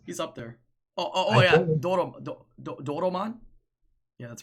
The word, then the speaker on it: Doraemon: e Oh daughter my I thought it was daughter Aman no it's Doraemon what why'd you put